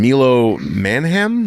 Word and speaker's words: Milo Manheim: And then Milo Manheim, that's how you say his name.